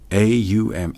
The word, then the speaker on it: Aum: A-U-M, Aum, the birth, the coming into being, and the dissolution that cycles back.